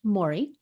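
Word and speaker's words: Māori: a a Mory face uh pattern some people pronounce it Maui but I was told when I was in New Zealand many years ago that it's actually pronounced Mori but the words here are Will To Power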